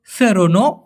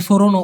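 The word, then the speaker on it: seronok: প্রশ্ন করেছে একটা হচ্ছে সেরনো এখানে সরনো হবে না ভাই উচ্চারণটা হবে সেরনো সেরন আরেকটা হল সোকম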